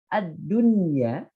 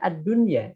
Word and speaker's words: ad-dunya: Yang pertama adalah lafaz ad-dunya. Nah, ini tetap dibaca ad-dunya, tidak ad-dunya, tapi ad-dunya.